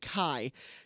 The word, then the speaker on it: Kai: that say his name it's ka Y but I'm pretty sure you pronounce it Kai cuz I heard Anthony